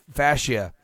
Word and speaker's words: fascia: rupture of the plantar fascia. Is that how you say it? Plantar fascia? Fascia, you had it right.